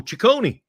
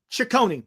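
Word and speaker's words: Cecconi: right-handed pitcher Slade cision I think that's how you say it right is it Sone or cision how would you say that Glenn H oh Chone Chone okay and a I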